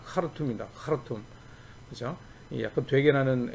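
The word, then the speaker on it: Khartoum: 그런 것들 주장했던 사람인데 이 사람이 이제 그 수단의 수도 이게 하루툼인데 이게 H 발음이 바로 나는 게 아니라 약간 되게 나는 겁니다. 카르툼입니다. 카르툼, 그죠?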